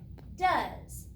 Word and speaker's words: does: Does, D-O-E-S, does. And remember, it has the word do in it, but we don't say he does his homework, we say he does his homework.